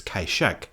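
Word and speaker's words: Kai-shek: The old Cantonese pronunciation of this name is Kaishek.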